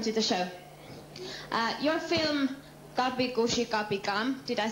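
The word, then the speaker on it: Kabhi Khushi Kabhie Gham: Your film Kapi Kushi Kapi Kam.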